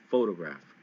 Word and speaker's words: photograph: In the photograph, you hit the first syllable, pho, really hard. It's photograph, okay?